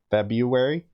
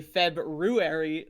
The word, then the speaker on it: February: slowly all three syllables february see that's that's where you're wrong it's actually february there's an r oh i uh oh